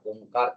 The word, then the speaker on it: ओम: प्रथम ओ का उच्चारण माउथ से उसके बाद माउथ और नस्ट्रिल का इस्तेमाल करते हुए ओ का उच्चारण और उसके बाद म का उच्चारण लंबी गहरी सांस लीजिए